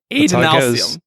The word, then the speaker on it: Adonalsium: Oh, A? Supposed to be A? Sorry. Long A. Adonalsium. There's so many long A's.